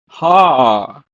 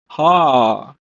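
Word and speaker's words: הַר: It's pronounced as Har. Har.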